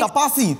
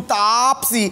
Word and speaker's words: Taapsee: So finally now, people pronounce it properly. Tapasi, tu Tapsi.